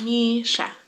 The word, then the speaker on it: Misha: sound so for example my name which is Misha has two syllables Misha and two vowel sounds and uh and my